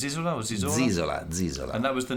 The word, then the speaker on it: Zisola: How do you pronounce it? Zisola or Zisola? Zisola.